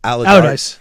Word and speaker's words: Allardyce: Allardyce. Is that how you say it? Allardyce.